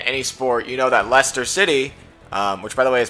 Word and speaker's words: Leicester City: to any ESPN, any sport, you know that Leicester City, which, by the way, is pronounced Leicester City, in Iowa. People are dumb, and they don't know how to pronounce that correctly, but, yeah, Leicester City won the title, the Premier League title.